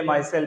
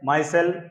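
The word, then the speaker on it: micelle: to water will A मासेल B form in other solvent such as ethanol also कहा जा रहा है माय सेल या इसको प्रोनाउंस कर सकते हैं मिसेल दोनों तरह से ठीक है के जब यह बनता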